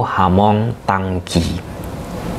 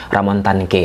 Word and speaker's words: Ramon Tanque: Jika kita gunakan pelafalan bahasa Brazil, penyebutannya itu Hamong Tangki. Akan tetapi biar tidak susah kawan-kawan mengikuti video ini sampai akhir, kita sebut sajalah namanya Ramon Tanque ya.